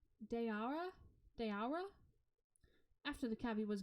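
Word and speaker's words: Daoura: hotel on Darwa daura d-a-o-u-r-a three vowels in a row how do you pronounce that dayara dayara after the cabbie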